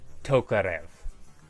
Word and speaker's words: Tokarev: I don't know if there's anything else I needed to say besides this is pronounced Tokarev.